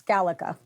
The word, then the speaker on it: GALECA: the executive director of GALECA. Is it GALECA? Is that how we say it? We pronounce it multiple different ways. I just call it GALECA the whole time, but they tell me it's GALECA.